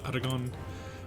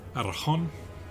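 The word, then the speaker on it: Aragón: good large part of Aragon, or Aragon, if you want to get technical. I always dislike how the Spanish pronounce their G's.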